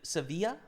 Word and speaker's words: Sevilla: Uh on Espa it's Sevilla. How's it pronounced in Spanish?